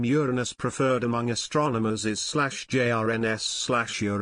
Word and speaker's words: Uranus: pronunciation of the name Uranus preferred among astronomers is/ jrns NS with the long u of English and stress on the first syllable as in Latin Uranus in contrast to slj